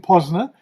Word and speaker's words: Posner: And today we're very happy to have with us Posner, if that's the right pronunciation, It is indeed.